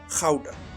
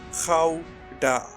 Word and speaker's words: Gouda: Yes, that is how you pronounce it. Gouda. Gouda.